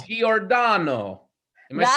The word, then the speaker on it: Giordano: I literally just say Giordano, but Giordano. that's welcome as well. So that Jordan. See works. that it sounds so like so waspy when I say it like that. Giordano, like that. Yeah. That's the Calabria side of me comes out.